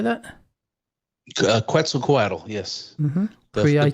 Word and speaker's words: Quetzalcoatl: And that's the god, I don't know if I'm pronouncing this right, Quetzalcoatl? Coatl. Yes. How do you say that? Quetzalcoatl.